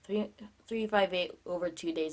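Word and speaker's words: 358/2 Days: kingdom hearts 358 games over to ya know 358 over two days it is remember the last video where I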